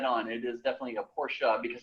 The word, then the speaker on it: Porsche: car company um and correct pronunciation thus ends in an a and as everyone's coming